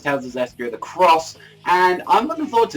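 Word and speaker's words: Tales of Zestiria the X: Zestria the X, but it's pronounced Cross, so it's Tales of Zestria the Cross, and I'm looking forward to this.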